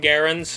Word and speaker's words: Garand: He had upwards of about, I think, 10 M1 Garands, or Garand, however you want to pronounce it.